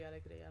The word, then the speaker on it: Alegría: I mean, in Spanish it would be alegría, like that.